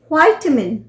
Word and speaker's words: vitamin: सो विटामिन जो है वो है ब्रिटिश प्रोनाउंसिएशन, जबकि वाइटामिन ये हुआ अमेरिकन प्रोनाउंसिएशन।